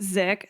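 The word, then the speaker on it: Sdzik: her email as well my last name is pronounced zick so it's s DZ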